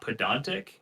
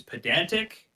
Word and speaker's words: pedantic: It is not pedantic. It is pedantic, pedantry, pedant.